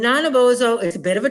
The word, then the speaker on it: Nanabozho: and his name and I looked it up so I would say it right is not a bozo and nine of ozo is a bit of